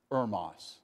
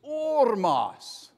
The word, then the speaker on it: Oras: Estonia and she said it's not Heros it's oros so I went back